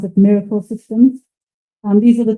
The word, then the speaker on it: MRKL: is spelled mrkl that's it's actually you um pronounce it Miracle systems and these are the two research papers